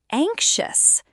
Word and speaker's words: anxious: Anxious sounds like ank-shus.